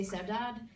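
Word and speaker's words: saudade: so my unpronounceable book sadaji that word is a Portuguese word um in um if you were Portuguese like from Portugal you'd say sevdad and Brazilian Portuguese it's pronounced my mom's from Brazil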